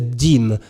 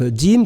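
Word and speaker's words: Diem: Mais nous avons découvert la semaine dernière, grâce à notre ami Detlef Dim, alors je ne sais pas si je le prononce bien, qui est un maître tailleur de Munich en Allemagne.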